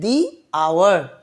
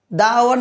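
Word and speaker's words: the hour: তাহলে এই এইচের উচ্চারণটা আয়ের মতো হচ্ছে বলে এখানেও সেম এই ওয়ার্ডটি তাহলে দা উচ্চারণ না করে দি উচ্চারণ করা হচ্ছে। তাহলে দি আওয়ার, দ্য আওয়ার না কিন্তু দি আওয়ার,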